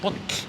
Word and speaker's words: bolla: And then you have the weird X. And like, it's like the pops. And it's basically like this. And then you say bollar.